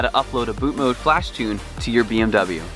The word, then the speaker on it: BootMod3: Today we are very excited because we are going to show you how to upload a boot mode flash tune on your BMW F30 without removing the DME.